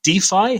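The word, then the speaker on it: DeFi: pronounce something wrong again because i've only uh defy how we pronounce it d5 yeah decentralized finance that's good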